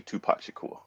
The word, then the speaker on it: Tupac Shakur: I'm always going back and forth on the '90s rappers, but for this purpose, it has to be Tupac Shakur.